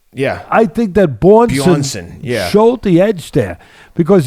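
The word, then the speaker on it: Björnsson: And I give credit to Bornson. Am I pronouncing it right? Yeah. I think that Bjornsson showed the edge there.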